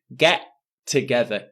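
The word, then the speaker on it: get-together: pronunciation for get together notice there is only one t sound I don't say get together get together one t sound get together get together and next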